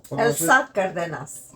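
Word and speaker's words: Elsa Cárdenas: spoke Spanish so go figure how do you pronounce the Elsa Elsa cardas oh is that how you pronounce it Mari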